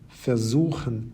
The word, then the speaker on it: versuchen: You may have noticed that all the words on the left-hand side have their stress on the second half of the word, bekommen, vergessen, besuchen, versuchen, verstehen, gewinnen, and entscheiden. Separable verbs, on the other